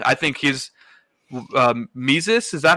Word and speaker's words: Mises: I think his Mises, is that how it's pronounced? Yeah, Mises. I've never heard anyone say it out loud, so I wasn't sure. It's like Jesus with an M at the beginning.